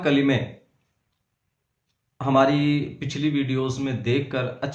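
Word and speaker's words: کُلِّ: کر پڑھیں گے استغفر اللہ ربی۔ اگلا لفظ ہجے کے ساتھ پڑھیں گے۔ من کلی، میم نون زیر من، کاف لام پیش کل،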